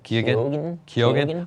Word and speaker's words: Keoghan: Keoghan.